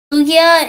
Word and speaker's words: Lugia: zapdos and yep correct and also for uh lucia it's actually pronounced lugia and for victina it's victini i appreciate it